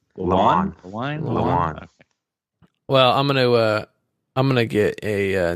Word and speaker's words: Lewan: Yeah, I think it's Taylor Lewine. I think it's Lewan. Is it Lewan or Lewine? Lewan.